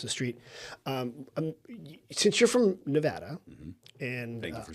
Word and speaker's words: Nevada: Since you're from Nevada, and thank you for saying it right.